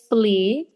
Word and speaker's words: Flee: So I think I will say Flea. It's spelled Flee, and it's an animated documentary.